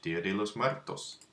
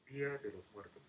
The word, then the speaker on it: Día de los Muertos: How do we pronounce that? There it is. Spanish, Dia de los Muertos. Día de los Muertos. There you go. Dia de los Muertos. Día de los Muertos.